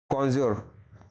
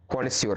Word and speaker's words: connoisseur: Which of the following has the correct spelling. कॉन्ज्योर। ठीक है, कॉन्स्योर होता है ना, कॉन्ज्योर, कॉन्स्योर।